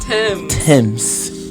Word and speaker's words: Tems: How you pronounce it? It's Tems.